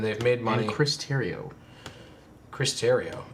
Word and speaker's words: Terrio: And Chris Terrio. Chris Terrio. Is that spelled like The Riot? It's spelled like Cheerio with a T.